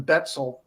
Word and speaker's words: Betzel: this explain this person stephen betzel rhymes with pretzel i guess um just